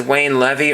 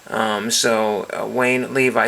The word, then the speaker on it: Wayne Levi: And this is Wayne Levy or Wayne Levi. Wayne Levi, spelled like Levi's, and there is that one.